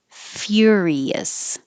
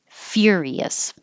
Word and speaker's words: furious: brian brain arnold schwarzenegger furious so instead of fur you're saying fear your tongue is going very high like you're going to say you're fear furious okay that's it thank